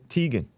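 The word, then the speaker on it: Teigen: her husband john t is it pronounced teagan or tegan tegan i call her chrissy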